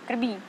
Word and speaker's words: Краби: Я не знаю, как точно делать ударение, почему. Но они говорят Краби. Они говорят Краби. Краби. Говорите Краби. Краби.